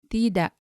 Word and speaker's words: tidak: The first one is tidak, tidak. However, colloquially, this is shortened to become tak, tak. And notice that the K is not pronounced as hard as the letter K in English.